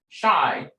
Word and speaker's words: Shai: The pronunciation is Shine. Shai, personification of fate.